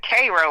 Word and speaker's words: Cairo: Yeah, it's actually they pronounce it Cairo, like the Cairo, IL.